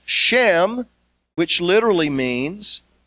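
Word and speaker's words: שם: term for Renown is shin me which is pronounced Shem which literally means name they are men of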